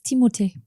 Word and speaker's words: Timothée: Apparently, if I say his first name wrong as well, it's Timote.